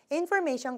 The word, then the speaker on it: information: 또 한 가지 information 같은 경우는요. may 액센트가 있어요. 여기 그래서 information이라고 발음해야 되는데 너무 앞쪽에다 액센트를 준 것 같은 느낌이 들었습니다.